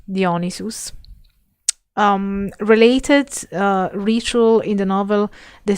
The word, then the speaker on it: Dionysus: Oh, for example, a Dionysus, sorry, I'm pronouncing it the Latin way, Dionysus, related ritual in the